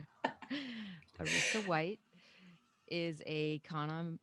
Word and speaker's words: Arisa: so happy to be talking with the poet erisa white arisa oh my god after reading that part in your book about pronouncing your name it's still it still didn't